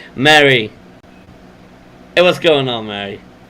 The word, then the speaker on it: Mary: Her name's not Marie. I just always call her Marie. Mary.